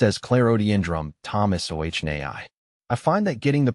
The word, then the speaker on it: Clerodendrum thomsoniae: It's pronounced as clarodendrum thomas o naii.